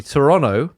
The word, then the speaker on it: Toronto: We do in fact pronounce the city Toronto.